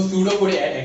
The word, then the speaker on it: pseudopodia: So pseudopodia, actually it is P, but P is silent.